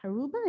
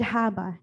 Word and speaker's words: Haba: I think, and in regards to block parties, I recently attended the block party that council member Ed Aruba, is that how you pronounce his last? Ed Haba in Hyattsville.